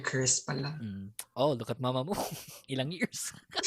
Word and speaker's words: Mamamoo: Even at at one point I called it Moomoo much because I didn't know how to pronounce it properly. So I thought it was like Moomoo, Mamamoo.